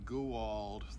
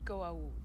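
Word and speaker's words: Goa'uld: wife and her brother and to determine the goo old threat excuse me you pronounced it wrong stepwise be an apostrophe after the a before the you it's pronounced go out shortly after arriving you were captured in prison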